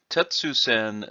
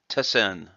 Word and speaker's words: Tessen: And we'll be looking at these techniques here, which on the board are called Tetsusen no Maki. We will see that actually the name of this should be Tessen no Maki.